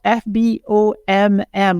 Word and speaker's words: FBOMM: FBOMM, which is spelled FBOMM, all lowercase.